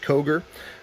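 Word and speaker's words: Kauger: made by Koger arms that's k-a-u-g-e-r that's pronounced Koger they're made in Hazelhurst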